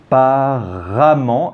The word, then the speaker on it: apparemment: Et apparemment, attention, on prononce A, mais on écrit E.